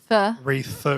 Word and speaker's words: wreath: not like Christmas, like the reefer madness, like No, I was saying reef. wreath with a th Instead at of- the end.